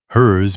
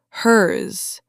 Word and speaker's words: hers: If you drop the Z ending, especially in fast speech, yours might sound like your. Hers might sound like her. Theirs might sound like there.